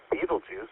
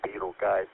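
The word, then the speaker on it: Betelgeuse: In this regards, it's similar to Beetlejuice or Beetle guys depending on how you want to pronounce it, which is also an irregular variable.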